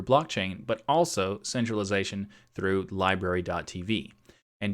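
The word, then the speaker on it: LBRY: but also centralization through library TV and to be clear library is spelled lbr why so you go to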